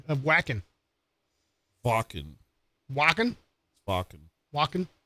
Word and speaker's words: Wacken: Wacken. W's a sound like a V. Okay. So they're going to come on. He thought it was whacking.